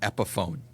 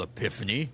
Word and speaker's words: Epiphone: And the brand is actually called Epiphone. And it was a perfect example of the guy did not make me feel like an idiot for not knowing what the brand name was or saying it wrong. And, was nurturing and welcoming in that. But that is an example of, I could see sometimes gamers being like, you idiot, that's not called Epiphany.